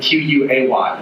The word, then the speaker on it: quay: Thomas Dye, a writer named for Tom Sawyer, tells me that another key is quay, as in Q-U-A-Y, which should be pronounced key.